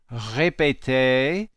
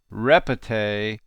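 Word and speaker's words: répétez: called an exon aigoo it indicates that the e is pronounced much like in English a so we say a high pate a instead of repete like we would say with an English pronunciation could you hear the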